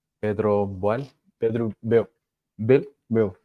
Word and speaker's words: Boehl: Bill. Pedro Boehl. Pedro Bill. Bill. Bill. It's Pedro like Bill. German surname. Oh, it's quite like lazy, like Pedro Bill.